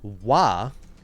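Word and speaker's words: は: an excellent question the wa is the letter ha in japanese however when it's used in this grammar point to mark the subject it is pronounced like a w but everywhere else it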